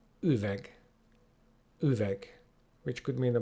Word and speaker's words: üveg: And last but not least, a sound which doesn't really have an English equivalent, which is U. U. And our word for today is üveg.